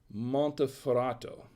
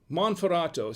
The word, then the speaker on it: Monferrato: tonight this is an er cole barbera del monteferrato monferrato see i told you i was gonna butcher